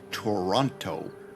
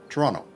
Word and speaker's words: Toronto: You don't say Toronto. It's It's not that harsh. Toronto. It's it's it's there. I still pronounce the T. It's just not as it's not as emphasized.